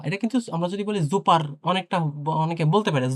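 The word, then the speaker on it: super: এটা কিন্তু আমরা যদি বলি জুপার অনেকটা অনেকে বলতে পারে জুপার আসলে এটা জুপার না জুপা হ্যা জুপা এটা আবার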